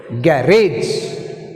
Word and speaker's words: garage: Next word, garage, garage, garage. Rage is second syllable. Put stress mark on second syllable R.